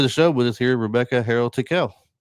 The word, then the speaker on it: Rebecca Harrell Tickell: So, welcome to the show with us here, Rebecca Harold Tequel. Thank you. Wow, you pronounced my name wrong.